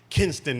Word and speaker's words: Kinston: She's from Kinston, and then you got to say it right, Kinston, North Carolina.